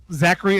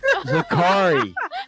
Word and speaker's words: Zakri: If And just FYI, Zachary Enterprises, Zakari.